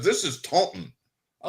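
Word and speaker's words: Taunton: Taunt, Massachusetts. And I don't even know what it's because because my friend Robin's from up there and she wrote me by says this is Taon.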